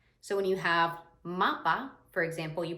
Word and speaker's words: mapa: So when you have mapa, for example, you pronounce it ma-pa. That A sound does not change. A lot of times in English, we might say mappa because we have 2 different A sounds.